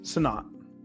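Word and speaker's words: Sinnott: play again next season, but they've got Ben Sonat. Yeah. Right. Senote or how you say his name? Sonat.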